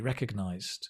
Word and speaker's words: recognized: You do pronounce the D. Recognized.